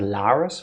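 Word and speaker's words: Lares: it just me or do we say Laris like some other characters have and Rosco said Lis which is closer to the German pronunciation doesn't change anything ultimately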